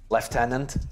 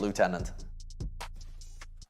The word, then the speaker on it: lieutenant: water water water water left tenant yeah no listen i'll give you guys lieutenant that's just stupid it should be pronounced lieutenant i literally i think